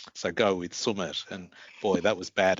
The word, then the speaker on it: Sumith: of my name is Sumit with a accented TH. And I remember my grade prep teacher found it very hard, this older Irish lady, to get that pronunciation. So she called me Sumit, and that name has